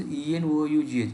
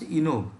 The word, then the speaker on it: enough: Okay, so enough word is spelling of enough is ENOUGH. If you go by word, it should be pronounced enog, but it is not enog, it is enough.